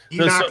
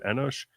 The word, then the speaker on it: Enoch: We call him Enosh. We'd probably spell it with an S instead of that C. But we pronounce it in Hebrew Enosh.